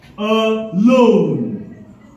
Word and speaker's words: alone: For instance, the word alone. We put the stress on the second syllable.